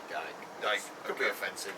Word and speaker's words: Dyche: I say Dyke.